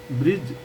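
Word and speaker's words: bridge: मरमत चल रही है ब्रिज बी आर आई डी जी ई ब्रिज जब भी जी से पहले डी आए तो डी साइलेंट रहता है दुर्घटना के कारणों की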